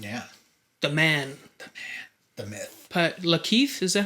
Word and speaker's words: Lakeith: Lakeith, is that how you say his name? Lakeith? Yeah, Lakeith.